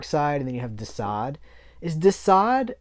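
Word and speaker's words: Desaad: and then you have dasad is dasad a riff on the marquis de sade spelled differently but it's pronounced the same um this is the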